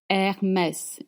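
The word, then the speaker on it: Hermès: Her er we pronounce H. Hermess and as I told you makes the sound.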